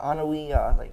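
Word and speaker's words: Anoaʻi: They're the Anawi, is that how it's pronounced?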